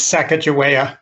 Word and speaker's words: Sacagawea: I'm not sure how you pronounce it, Bill, Sakahaya nonprofit housing. So here's Bill with some of his, how do you pronounce it? It's Sacagawea.